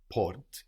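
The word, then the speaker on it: porte: n t e so the final e means the consonant isn't on the end of the word anymore and so we know that we should pronounce it so we said and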